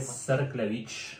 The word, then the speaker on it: Cerklewicz: Serklevich.